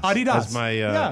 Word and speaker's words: Adidas: It comes from the name of the founder, Adolf Dassler, whose nickname was Adi.